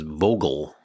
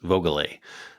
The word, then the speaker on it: Vogele: I used to always incorrectly pronounce Keith's last name as Vogel. It was John Horton who let me know it was Vogele.